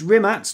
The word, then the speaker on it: Rimac: the C in kubika as he's sometimes pronounced it's a t yeah yeah so it's rimat not rimat and yeah had Goran